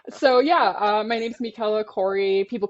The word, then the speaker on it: Michela: yeah uh my name's Mikela Corey people call me Mick I've been trying to teach you guys how to say my name correctly so it is Mikela just want to remind